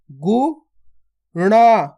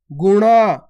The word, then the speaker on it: गुणा: इसमें तो ना का उच्चारण हो रहा है और इसमें अणा का उच्चारण हो रहा है। कैसे हो रहा है, गुना, और इसको कैसे पढ़ेंगे, गुणा, गुणा, और इसको गुना।